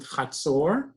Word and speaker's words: Hatzor: If you remember, I asked Deb and I said in Hebrew we pronounce it Chatzor, and Beersheva.